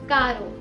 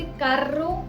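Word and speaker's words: caro: लेकिन जब भी एर्रे दो वॉवल्स के बीच में आएगा तब ऐसा नहीं होता, तब इसका प्रोनाउंसिएशन थोड़ा लाइट होता है। जैसे कारो, पेरो। अब इन जगहों पर हमने इसे कार्रो या पेर्रो नहीं बुलाया, ऐसा करने से इसका मतलब भी बदल सकता है।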